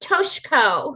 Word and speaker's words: Toshiko: opponents to be white saviors and say, it's pronounced Toshiko.